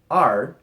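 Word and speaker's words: 二: at it I'm also going to include two R and three son for obvious reasons but no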